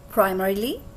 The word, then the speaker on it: primarily: Primarily or primarily. Both pronunciations are correct.